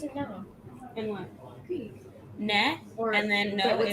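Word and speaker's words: ναι: Ne, Or and then no what's is or?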